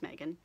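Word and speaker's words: Magen: I usually go by when I go to conventions and stuff, but my real name is Megan. It's not spelled like most Megans.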